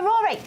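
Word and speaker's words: Roary: Go Rory! Yeah, we like Rory. They spell it R-O-A-R-Y. I love that. Yes, like Rory the Tiger.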